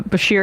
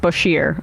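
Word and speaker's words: Bashir: be semantical but uh Basher is pronounced bashier oh I'm sorry I'm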